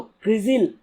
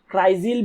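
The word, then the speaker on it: CRISIL: About UTI एएमसी, तो क्रिजिल जो कि एक रेटिंग एजेंसी है, तो क्रिजिल या फिर आप क्राइजिल भी बोल सकते हैं, प्रोनाउंसिएशन के हिसाब से डिपेंड करता है आप क्या प्रोनाउंसिएट करते हैं।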